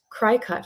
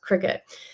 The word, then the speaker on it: Cricut: for this Cricut Machine which I pronounced cry cut for so long I did not know it was pronounced Cricut but I want to